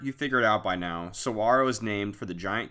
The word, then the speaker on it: saguaro: as i'm sure you figured out by now saguaro is named for the giant cacti all around the park i didn't find out until after the trip that saguaro is actually pronounced saguaro the more you know we explored the rincon